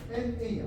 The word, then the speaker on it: NA: 그러면 요거 이니셜만 따로 보면 NA야. 그지? 뉴클레이크 애시드. 나라고 읽으면 안 돼. NA.